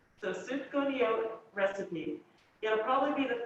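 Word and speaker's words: sufganiyot: just search to go to yolk recipe i'll spell it for you s u f g a m i y o t so super conio recipe it'll probably be the first one that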